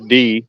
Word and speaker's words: Die: think about he says d or i mean it's pronoun i mean it's spelled die but he says d the answer but uh